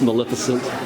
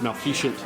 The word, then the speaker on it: Maleficent: Or this Maleficent. Before I was a Disneyland fan, I always try to pronounce that as Maleficent. It's Maleficent.